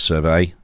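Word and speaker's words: Servette: a local Swiss side, I assume pronounced Survey, almost spelt Serviette, on the 8th of July.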